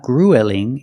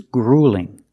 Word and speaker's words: grueling: a marathon is gruelling also notice with the UE L we don't say U it's not grelling it's grueling use the long u plus the light L gring it's grueling is